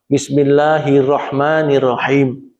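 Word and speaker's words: بسم الله الرحمن الرحيم: Misalnya dari ayat yang pertama, misalnya, Bismillahirrahmanirrahim. Kadang-kadang kita ini mengabaikan bacaan tasydid di bacaan ra. Bismillahirrahmanirrahim. Ra-nya tidak ditasydid. Padahal itu fatal kalau tidak dibaca double.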